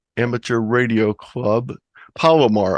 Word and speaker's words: Palomar: I'll be doing the Palmero Amateur Radio Club. Palomar, I keep pronouncing that wrong. Palomar Amateur Radio Club.